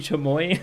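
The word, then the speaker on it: chamois: do math with admire CH chamoy is supposed to be chamoy oh no Google teaches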